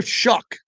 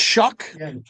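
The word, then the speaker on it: Shough: we keep it at Tyler Slow, however he pronounces it. Tyler Shuck. It's Shuck.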